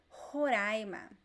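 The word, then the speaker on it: Roraima: the name of a state in brazil horaima haiyou haiyou so this is lightning that i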